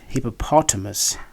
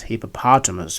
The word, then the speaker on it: hippopotamus: hippopotamus in British English in American English it's pronounced as hippopotamus with a long a hippopotamus whereas in British